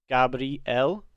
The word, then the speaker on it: Gabriel: the moment very religious the way that all of these angels names are supposed to be pronounced is with el at the end so it's me l gabriel raphael and l is